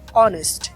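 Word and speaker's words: honest: আবার অনেস্ট, এখানে কিন্তু এইচ এর উচ্চারণ হয়নি।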